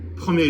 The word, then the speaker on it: premier: way, cher and cher, but with premier in the masculine, c'est mon premier jour. It's my first day, so c'est mon premier jour. D'accord. But if I want to say it's the first time, c'est la première fois, and you do pronounce the R there.